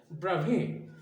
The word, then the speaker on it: Bravais: তবে দেখো উচ্চারণটা কিন্তু বিআরএ ভিএআইএস হলেও উচ্চারণটা কিন্তু এটা, ইনি একজন হচ্ছে বিজ্ঞানী অগাস্টা ব্রাভে হচ্ছে একজন ফ্রেঞ্চ ফিজিসিস্ট মানে